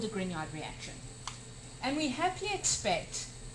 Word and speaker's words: Grignard: Forgetting, of course, that they may not recognize that you pronounce this as Grignard.